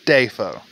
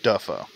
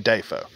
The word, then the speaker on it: Dafoe: pronunciations of william defoe it's defoe by the way not duffo it's defoe he said it himself there's a clip if y'all want to look for that it's william dafoe uh for those of